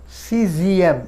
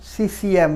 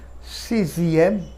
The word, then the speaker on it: sixième: quatrième, 5, cinquième, 6, sixième। এখানে উচ্চারণটা হয়ে যাবে সিসিএম না, উচ্চারণ করবে সিজিএম।